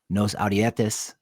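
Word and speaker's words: Nos Audietis: includes Sounder at Heart, Nos Audietes. Is that how you pronounce it? Yeah, that's close enough.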